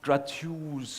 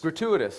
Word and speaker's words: gratuitous: and bloody uh it is not it's not gratus violence if I if that's so how do you pronounce that word don't speak your language what word grat gratuitous gratuitous oh gratuitous grous it's not it's not like